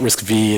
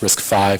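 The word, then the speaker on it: RISC-V: um so it's not risk V it's actually pronounced risk five so risk V is the Roman numeral 5 um and it was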